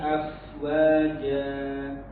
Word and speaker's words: afwaja: Wal jibala autada fi dinillahi afwaja. Ya, konsentrasi huruf waw itu dimulai dari monyong. Afwaja, afwaja.